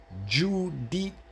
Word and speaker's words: giudice: So the G-I-U, Jew, the U is pronounced the U. The U is pronounced U in Italian, U. So when you see the U, it's pronounced U. So when you put the words together, G-I-U, it would be Jew. D-I-D. C-E, che.